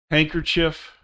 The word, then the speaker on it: handkerchief: Silent D, handkerchief, handsome, Wednesday, sandwich.